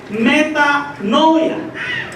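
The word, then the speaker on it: μετάνοια: Pero todos sabemos, hermanos, por las Escrituras, que la palabra arrepentimiento viene de una palabra griega que se pronuncia metanoia.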